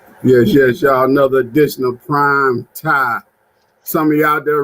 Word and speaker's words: Prime TImE: fine another additional prime time some of you out there reading that you think it is prime time but see the m is silent and the m is small because in life sometimes